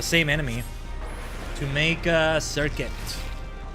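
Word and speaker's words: Serket: the same enemy to make a circuit. Feels like I really got to say circuit because it's spelled S E R K E T.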